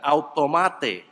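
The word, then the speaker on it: αὐτομάτη: frase refleja la palabra griega griega que se pronuncia de esta manera autómata que la debes reconocer porque es de esa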